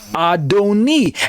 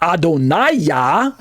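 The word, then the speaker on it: אֲדֹנִי: see it's right there adoni and the vowel points are not adonaya as in the kamats a little um letter looking capital letter t under the noon instead the vowel marking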